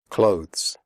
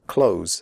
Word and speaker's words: clothes: comfortable not comfortable comfortable clothes the final sound is a the followed by an s clothes if this is difficult for you just pronounce it like close as in close the door close answer the W